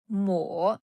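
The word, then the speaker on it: 抹: This character is mó mó third tone.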